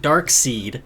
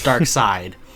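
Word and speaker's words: Darkseid: pronounced I do because it's not dark seed it's dark side it's not razal ghoul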